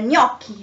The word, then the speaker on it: gnocchi: found is g plus n um it is pronounced near near as for example in the gnocchi so the kind of pasta the um over